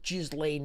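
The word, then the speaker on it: Ghislaine: He's the only one who's got to meet with Gizlane Maxwell. Her name's pronounced Gizlane.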